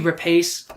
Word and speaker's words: Rapace: And Noomi Rapace was fantastic. I'm going to continue mispronouncing it.